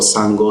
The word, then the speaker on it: Sango: So I'm not sure if there's one online in terms of where you could find the Shuso Sango Saho. Again, it's spelled S-H-U-S-O.